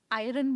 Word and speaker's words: iron: हो उसे मैं तो आयन बोलता हूं अच्छा आप आयन बोलते हो ओके बट मोस्ट लोग आयरन बोलते हैं आर काइंड ऑफ साइलेंट है बट आर का साउंड हल्का सा है अब मेरे को